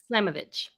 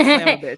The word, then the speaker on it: Slamovich: It's Masha Slamovich. Slamovich. Yes. That sounds like Slamovich. Good job. Okay. It sounds like Slamovich, which worked for the women's division.